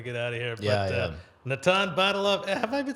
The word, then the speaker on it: Natan: yourself as Nathan no the first year in comedy I said Nathan because people kept pronouncing it that way I didn't have the I thought if I just keep correcting people I it's like going to be forever but then I thought why am I letting you say my name eventually so Natan